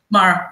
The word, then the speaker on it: Māra: MARA, yes.